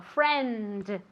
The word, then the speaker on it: friend: Entonces, especialmente al final de una palabra, en España tendéis a comeros esta letra, ¿vale? Y no hay que hacerlo, sino que hay que decirlo. Friend.